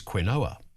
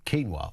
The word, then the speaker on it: quinoa: It's like each time I've muscle memory goes quinoa. Uh it is of course keenwa, which is on the cuz it's written like it's keenwa, that's why.